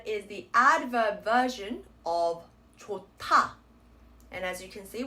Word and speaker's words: 좋다: So again, it's 좋다, 타, T sound. This word is the adverb version of 좋다.